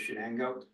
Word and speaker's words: Shenango: yes yeah all right that's that's how it's pronounce it Shenango okay yeah and uh I just from the